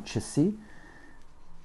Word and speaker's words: часы: Pour écrire le mot часы, je commence par mon ch, mon A, mon S et mon U, avec un accent tonique sur le U.